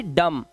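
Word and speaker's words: dumb: इस तरह से बॉम, बी साइलेंट है, इसका मतलब होता है बम। ऐसे ही डम, डम का मतलब गूंगा।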